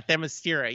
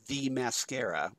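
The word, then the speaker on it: Themyscira: no yeah yeah yeah thermostira yes and uh and yes i i love that but he pronounced it as the mascara yeah the mascara and i also do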